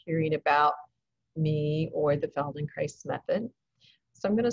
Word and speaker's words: Feldenkrais: i am cynthia allen i'm a feldenkrais practitioner rhymes with paradise spelled in christ rhymes with paradise and i think it helps if you have a mnemonic because that word feldenkrais is very hard to